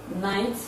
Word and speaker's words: knight: drink cake it's a c the sound cup is silent in the following ways words like knight floaters k n hi ght it's a silent